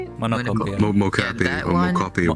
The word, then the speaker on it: Mocopi: but the new one, the Monocopi one, how do you say it? Monocopi. Yeah. Mocopi that or one- Mocopi or whatever, yeah.